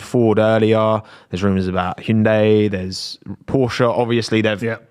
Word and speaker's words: Hyundai: point of the advert was that people are mispronouncing it and then they were like yeah it's Hyundai and I was like yeah I swear in